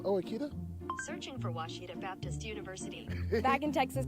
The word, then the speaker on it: Ouachita: Is it pronounced Ouachita? Searching for Ouachita Baptist University. Back in Texas, everybody pronounces it Wichita, but really, it's Ouachita.